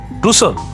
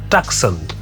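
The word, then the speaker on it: Tucson: লোকটি কর্কশ গলায় বলল টুসন সেটা আবার কোথায় হেল ইজ দ্যাট প্লেস আমি এবার বানান করে বললাম টি সি এস ও এন অনেকে বলে টাকসন আসলে ওটা উচ্চারণ হবে স্টেটে বলল আমেরিকার পশ্চিম অঞ্চলে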